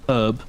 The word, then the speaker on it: herb: we've kind of like the british have kind of adapted the newer age way of saying herb with the h but like we used